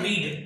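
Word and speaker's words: read: हम लोग लिखते रीड ही है लेकिन पढ़ते हैं रेड, यानी कि फर्स्ट फॉर्म होती है रीड, सेकंड फॉर्म होती है रेड और थर्ड फॉर्म होती है रेड।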